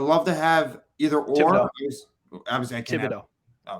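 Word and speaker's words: Thibodeaux: Thibodeau. Obviously, I can't Thibodeau. have The H is silent.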